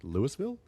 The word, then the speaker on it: Louisville: What about Louisville? Yeah. What do you say? Lewisville. Uh I actually say Louisville, I think. Yeah. Louisville. Louisville. But they call it Louisville. Yeah. No, like they compress it.